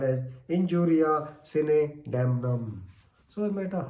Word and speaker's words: sine: Sine or Sine, whatever, you can pronounce it in whatever way you like. But normally North Indians, they pronounce it as Sine, right?